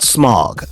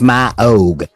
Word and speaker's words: Smaug: not Smaug, okay? He's pronounced Smaug, okay?